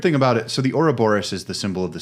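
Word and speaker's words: Ouroboros: Google they Boris it's not even close it's Oro Boris uh yeah yeah I know uh yeah I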